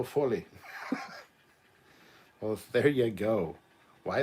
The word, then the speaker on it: Foley: remember those colin says despite how it's spelt oh foley is pronounced oh fully well there you go